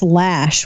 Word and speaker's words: Loesch: Actually, it's Lash, which is a non-existent A.